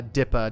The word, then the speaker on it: DIPA: to tear it up it's pronounced uh dipa not double ipa jesus christ there's an